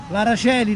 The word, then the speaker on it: Aracoeli: L'Araceli, l'Aracoeli, si scrive Aracoeli, io dico sempre così.